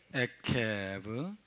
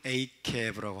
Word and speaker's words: עקב: 에케브, 아인, 코프, 베이트가 되겠습니다. 에케브 해볼까요? 에케브, 에케브 혹은 에이케브라고 하기도 합니다. 젤의 발음은 A로 발음을 많이 합니다. 에이케브, 따라서 에이케브, 에이케브.